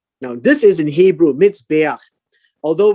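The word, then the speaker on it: מזבח: Now, this is in Hebrew, mitzbeach. Although when you read it in English, it's like Miss Beach. That's not how it's pronounced. It's mitzbeach.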